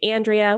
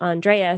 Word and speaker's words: Andréa: So, uh, a lot of people, for me, for instance, say Andrea, which is fine, but it's actually Andrea.